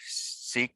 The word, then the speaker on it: Sikh: gentleman approach you that's a sick gentleman or sikh but it's actually apparently pronounced sick um black turban stuff